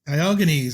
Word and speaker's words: Diogenes: I'll just quickly make sure I'm pronouncing it correctly. Diogenes? Diogenes, okay.